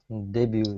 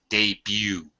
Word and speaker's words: debut: Debut album. Yeah, the first album. That's it. Mhm. And I'm sorry I didn't point this out before. The T is silent. Debut.